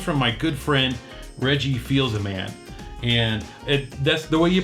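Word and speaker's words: Fils-Aimé: because it comes from my good friend, Reggie Feels a Man. And that's the way you pronounce his name because he told me directly. And people always think it's Feels a Mean or something like that, but it's not.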